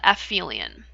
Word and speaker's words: aphelion: That's called aphelion.